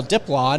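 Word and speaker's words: Diplán: guys Herrera and now dip LAN who we had to learn how to pronounce his name emphasis on the first syllable yeah because they're just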